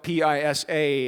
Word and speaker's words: Pisa: Okay, so there is this town in Italy, spelled P-I-S-A. It's like pizza, but it's pronounced Pisa.